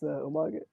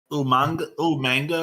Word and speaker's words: Umaga: How did that William Regal pronounce Umaga? Don't say Pete. Okay. How did William Regal say what? Umaga. Umanga or something like that?